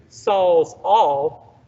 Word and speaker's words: Sawzall: switch the syllables around they put the zaw saw where really it's saul once you understand saul's all makes more sense right some people call